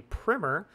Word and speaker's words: primer: I would make a primer and yes that is a proper pronunciation in this context about mouthpiece sizing it's